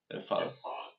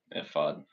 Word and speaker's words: ephod: Ephod. Okay. Ephod. Ephod it is.